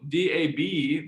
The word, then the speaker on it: dab: For example, DAB, this malevolent spirit, you can see on the slide here, DAB is pronounced da. The final B indicates the tone, in this case, high and level.